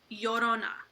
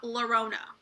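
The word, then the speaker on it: Llorona: Well, first of all, if you're not Hispanic or Latino, it's pronounced Yorona, not Laurona.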